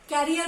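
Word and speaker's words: career: या बच्चे से बोलते हैं अच्छे से पढ़ो, कैरियर बनाना है। तो वो एक्चुअली कैरियर नहीं होता है, वो होता है करियर।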